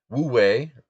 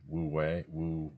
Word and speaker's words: Wu Wei: Um, Wu Wei, what the Koreans, I guess, call Mu-yi, it's